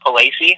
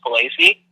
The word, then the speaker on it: Palacey: Last name's pronounced Palacey. A lot of people mess that up. It's Palacey.